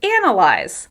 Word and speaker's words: analyze: Let's talk about the word analyze. Analyze. As you can hear, the word analyze is stressed on the first syllable.